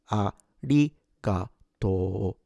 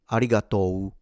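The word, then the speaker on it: ありがとう: A ratoto. Note that the o at the end is long.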